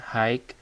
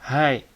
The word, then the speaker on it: hi: belov ya belov kemudian ini bacanya bukan hi ya banyak sekali yang bacanya ha harusnya hai ya enggak pakai ek gitu Hai Ya Hai Kayak Hai itu biasa terus kemudian tadi